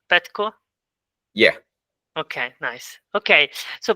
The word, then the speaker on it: Petko: Okay, Petko, is it right, the pronunciation? Petko?